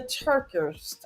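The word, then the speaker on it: TerKeurst: I always say her last name wrong. Lisa Turk Turk Turkist. TER. We should have put out a book. We should have wrote it in the chat. But anyway, TER capital KEURST. Lisa Turkist, I think, something like that.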